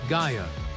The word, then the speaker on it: Gaia: Gaia, pronounced G-Y-E-A, earth, firm, nourishing, the stable floor of reality.